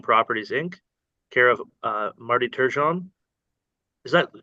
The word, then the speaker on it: Turgeon: of landowners Bluestone Properties, Inc., care of Marty Turgeon. Is that the correct pronunciation of that?